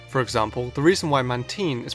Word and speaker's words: Mantine: For example, the reason why Mantine is pronounced the way it is instead of how it's spelled being Mantine, is because the name is a mix of Manta and Marine, Bulipedia lists every Pokémon's name's origins.